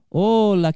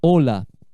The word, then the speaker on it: hola: Com H é o comprimento. Hola, que tal? Hola, buenos dias. É com H. Mas a pronúncia é a mesma. Hola.